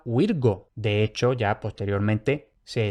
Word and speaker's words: Virgo: muy claramente, con C, pero esto no se pronunciaba con C, esto no se pronunciaba Virco, esto realmente se pronunciaba Virgo.